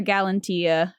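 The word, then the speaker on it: Galatea: in love with his own creation names her galantia that's how you say it uh Venus brings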